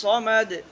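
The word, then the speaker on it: الصمد: আল্লাহুস সামাদ এখানে এখানে যেন সিন দ্বারা উচ্চারণ না হয় আল্লাহুস সামাদ যেন না হয় আল্লাহুস সামাদ আল্লাহুস সামাদ আল্লাহুস সামাদ আল্লাহুস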